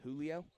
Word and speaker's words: Julio: And I do believe, sorry, number 33, his name is pronounced Julio? Yep.